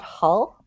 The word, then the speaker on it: Hull: He's from Northern England, and it's kind of like more like it's he's from a town called Hull. Hull? And you're not supposed to pronounce the H.